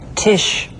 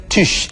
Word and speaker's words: Tisch: SCH 슈로 발음되거든요. 한번 직접 들어보시죠. Geschichte. Schule. Tisch. 네, Geschichte, Schule, Tisch 전부 SCH가 쓰였는데 발음은 슈 이렇게 됐죠.